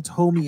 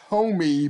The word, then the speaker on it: Tomie: this is a couple uh where this girl tomi a shows up and she's kind of immortal um like yeah i always thought it was tomy but no the the name in the japanese